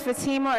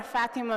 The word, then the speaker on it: Fatima: My name is Fatima or Fatima, depending on where you from is how you pronounce it.